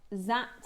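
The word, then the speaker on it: Dzi: So these are known as Z agate pronounced Z spelled D Z I and again they originated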